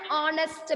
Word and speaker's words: honest: So it is not a honest man, it is an honest man. H is silent.